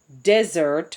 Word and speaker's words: desert: dessert is dessert, and it is even called pronounced differently, desert versus dessert.